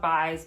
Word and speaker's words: Buys: I think it's spelled Buys, but I think they pronounce it Bays just to be difficult.